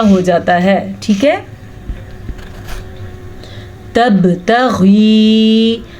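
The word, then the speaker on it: تبتغي: جاتا ہے، ٹھیک ہے۔ تبتغی، غین کے تلفظ کا خیال رکھنا ہے اور یا مدہ کو بھی ادا کرنا ہے۔ مرضات ازواجک، रॉ को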